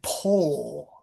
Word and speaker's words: pole: So recently I tend to really say, oh, there is some chocolate in the bowl, and this is the flag pole. Okay. So Pole. Pole. this way your speaker who's reading lips can really understand you.